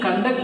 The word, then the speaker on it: conduct: So if the word is used as a noun, stress is on first syllable, whereas if the same word is used as a verb, stress is on second syllable.